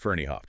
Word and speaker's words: Ferneyhough: Uh yes, written by Darren Ferno and that's pronounced Ferniehoff, just so everyone knows.